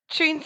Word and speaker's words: Choons: And just while we're here, your business name, Tanya, Tunes and Moves. And it's spelled as in tunes like C H O Ns.